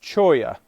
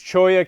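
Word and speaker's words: cholla: that the cactus is choya that's just uh the like spanish way of saying two two double l's in spanish is is a y sound so uh it's choya cactus is what that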